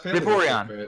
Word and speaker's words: Vaporeon: That's Vaporeon.